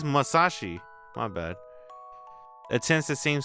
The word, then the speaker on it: Masashi: Oh, dude, did I spell his name wrong? Did I put Musashi? It's Masashi.